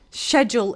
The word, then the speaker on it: schedule: But when I teach IELTS courses, I always tell my students that it's pronounced schedule in British so that they listen accordingly.